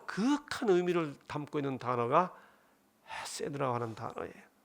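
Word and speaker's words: חסד: 여기 해는 너무 명랑하게 헤세드 이렇게 하시면 안 되고, 이 해는 약간 가래를 긁어내듯이 탁하게 발음하셔야 됩니다. 헤세드 이렇게 하셔야 돼요.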